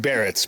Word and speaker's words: Barretts: Well, everyone, welcome Pat of, is it the Grinning Barretts or the Grinning Barretts?